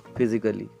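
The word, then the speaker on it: physically: हम प्रोनाउंस नहीं करेंगे, इसको बिल्कुल ही हम प्रोनाउंस नहीं करेंगे। तो इसका प्रोनाउंसिएशन कैसा होगा? फिजिकली।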